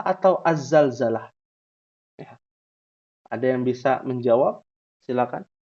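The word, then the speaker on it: الزلزلة: Ada surat yang berkaitan tentang gempa namanya surotu Al Zalzalah atau az-zalzalah ada yang bisa menjawab silakan harusnya ya harusnya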